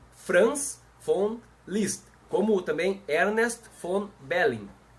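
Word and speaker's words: von Liszt: mundo jurídico por FR F list gravem bem esse nome FR F list se escreve Von com v Mas como é alemão se pronuncia F então é france list como também Ernest Von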